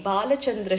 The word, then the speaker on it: Balachandra: the supervision of Sri Balachandra Shastri, a Vedic Pandit in Dharwar. Whenever we think about the name mentioned above, we remember what Periyaval said. You should pronounce the name as Balachandra and not Balachandra.